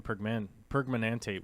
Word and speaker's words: permanganate: Let's see what the robot tells us how to say it. Potassium permanganate. Permanganate. Okay. I was just over glorifying it in my head, I guess.